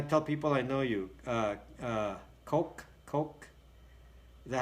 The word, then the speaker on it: Koch: So I thought it was pronounced cock. Is it? I'm a loser. I don't know how you pronounce it. It doesn't matter to me. I thought it was Koch. It's like being psychologically abused by the government. So, Coke.